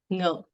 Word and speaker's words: ngo: It is pronounced as ngo, ngo, ngo, meaning I. So you could see here there is letter Q symbolizing the falling tone. So it should be pronounced as ngo, ngo. And with there is the NG sound is the pre-nasalization sound in this word.